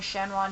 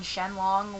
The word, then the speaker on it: Shenron: on to name pronunciations like calling shenron shenlong which i don't know why even in the english dub it was shenron so you know anyways